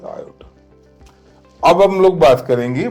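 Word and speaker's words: iota: आई इज a Greek word. It's pronunciation is आयोटा।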